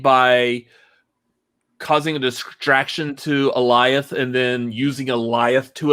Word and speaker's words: Alioth: And it's very simple. Eliath. It's Goliath without the G.